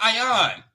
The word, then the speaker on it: ayin: Sir, right here is an ayon in the yard. It's not an elaf, so you can't get a ah sound. It's an ayon. The city for I is that's the way I pronounce it. Ayon.